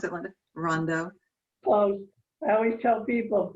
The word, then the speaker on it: Rondeau: us is that how you pronounce it linda rondo well i always tell people first a man of course denver deer rondo rondo okay good linda is not only a